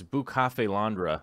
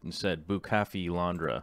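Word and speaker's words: Bucephalandra: Didn't we figure out it's Busa? It's Bukafe Landra, I believe is how it's said. Bukafe Landra or something along those lines.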